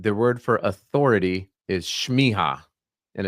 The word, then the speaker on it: Smieja: here uh you know a lot of people mispronounce my name shiha I should just let them do it from